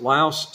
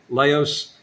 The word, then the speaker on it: Laos: And some people pronounce it Laos, some people pronounce it LAOS. I pronounce it Laos, so this is the way I pronounce it.